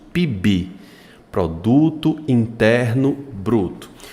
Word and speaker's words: PIB: falar para você aqui você pronuncia a palavra PIB como se ela fosse uma palavra você une o p ao i e o i ao B fazendo uma só pronúncia eu chamo isso de